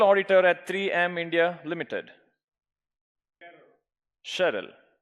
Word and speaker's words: Sheril: Sheril. I'm okay, I'm pronouncing she as she, it's she.